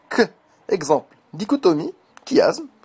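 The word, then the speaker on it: dichotomie: C H dans certains mots le Che se prononce que exemple dicotomie kiasme charisme autochtone al monochromatique et et cetera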